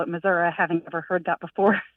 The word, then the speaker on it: Missouri: state as our home as the state of Missouri and people would always ask us why we